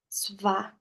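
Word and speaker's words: स्व: O Swadhisthana é muito lindo porque quando a gente quebra essa palavra, Swa, Sva, né? Com a pronúncia do sânscrito, é o seu próprio.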